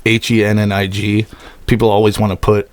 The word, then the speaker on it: Hennig: meaning to ask you how do you say your last name hennig hennick hennig yeah i this is the